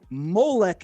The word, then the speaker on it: Molech: Melch is how we say king. Malik is an angel. Molech is a god that the creator told us don't worship.